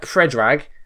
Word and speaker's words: Predrag: So it is Predrag. And his surname is Rajkovic, which I wasn't too far off, actually.